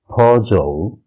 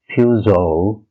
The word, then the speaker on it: Peugeot: Our next brand is Peugeot, and it's pronounced as in UK Peugeot, in US Peugeot.